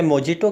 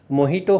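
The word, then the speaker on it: mojito: इसे मोजिटो कहा जाता है। जबकि इसका सही उच्चारण मोहिटो होता है।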